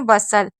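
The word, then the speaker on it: bustle: जैसे इसे क्या पढ़े? बसल। तो बी को ब पढ़ा यू तो बीच में हमेशा साइलेंट रहता है। और ये हो गया सल यानी कि बसल, हसल, ब्रिशल, एपिशल, जोसल, काशल, नेशल, पैसल।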